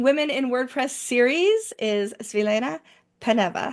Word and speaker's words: Svilena Peneva: in my meeting women in WordPress series is Selena paneva how are you hi Michelle I'm great thank